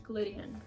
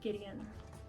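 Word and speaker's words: Gliddon: in 1854 presented by not in glideian George Glide, not Gideon. I mispronounced it.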